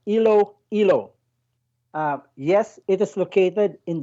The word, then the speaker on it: Iloilo: Well, it is pronounced as Ilo.